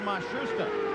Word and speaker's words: Matsushita: Now it seems that they have settled on Mashusta. They started the year with Matsushida.